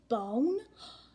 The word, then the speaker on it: bone: Now, when I have that word bone, I hear my long O.